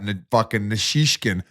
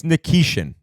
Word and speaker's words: Nikishin: Then you got Nishkin. Is that how you say it? Nishkin. Nikishkin. I think it's Nikishin.